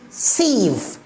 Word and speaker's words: sieve: So it is pronounced what? Siege. And here this one, S-I-V-E, sieve.